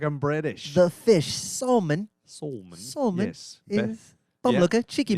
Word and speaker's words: Salmon: Spelled like the fish. Like pronounced like I'm British. The fish. Salmon.